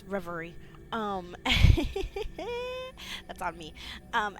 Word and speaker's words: Reverie: we are back with Harmony the fall of Rivier which I realized that I had been pronouncing it wrong this entire time um once